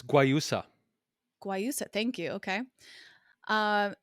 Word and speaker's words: guayusa: it's honey free it's also organic it's caffeinated guayasa tea is am i pronouncing that right jason it's guayusa guayusa thank you okay um and it's all